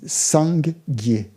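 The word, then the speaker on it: སངས་རྒྱས: Et en tibétain, Bouddha, ça se dit Sang-Gyé. C'est formé de 2 syllabes.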